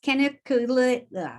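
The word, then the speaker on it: canaliculatus: And in case anybody wanted to know how to pronounce it, it's caniculatus.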